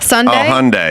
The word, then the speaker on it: Hyundai: Hyundai like Sunday. Hyundai.